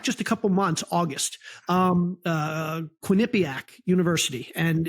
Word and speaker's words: Quinnipiac: You just put the wrong emphasis on the syllable. How do you say it? Quinnipiac. Quinnipiac.